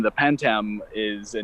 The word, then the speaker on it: pantam: So you touched a little bit on your percussion experience, and I know that you are playing an instrument called pantam. Am I pronouncing it correctly?